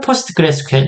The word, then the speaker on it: PostgreSQL: 그런데 익숙해지시면 포스트그레스QL 이렇게 표현해 주실 걸 권장을 드립니다.